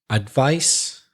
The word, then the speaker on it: advice: So listen to these words, and the first word has the unvoiced sound, so the S sound. The second word has the voiced Z sound. So listen and repeat after us. Advice and advise.